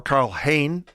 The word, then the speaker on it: Karl Hein: Maybe Karl Hein or Karl Hayne, apparently that's how you pronounce his name.